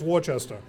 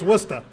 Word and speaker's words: Worcester: and they say oh with Worchester I mean no it's Worcester and it's wicked right